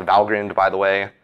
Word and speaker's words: Valgrind: you run it through valgrind um and what and it is pronounced valgrind by the way it's a reference to the gates to valhalla it doesn't mean val grind um so it's a